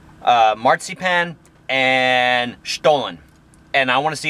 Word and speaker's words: Stollen: So I've got the stollen, guys. And that's how you pronounce it.